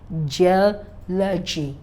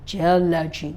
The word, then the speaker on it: geology: So stress on the third syllable from the end is given for words ending with CY, TY, PHY, GY, AL. You see the word democracy, democracy, geology, geology, not geology, no.